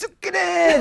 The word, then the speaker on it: Suikoden: I don't know, but I think you're lying because it's pronounced Suikoden. That's the real way to pronounce that game, and a true fan would know that.